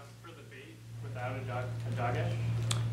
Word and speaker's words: dagesh: Dagesh.